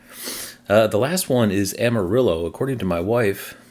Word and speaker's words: Amarillo: the last one is Amarillo according to my wife the correct pronunciation is the Spanish word for yellow Amadeo so we American